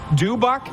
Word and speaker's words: Dubuc: I was like, oh, Dubuc's team's playing.